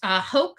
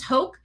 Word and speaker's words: Houck: to link the boyfriend, Brooks Houck, I think is how you pronounce his name, Brooks Houck.